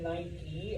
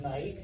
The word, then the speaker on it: Nike: That's why if you've ever wondered why we pronounce it night e and not night because it's n i k e.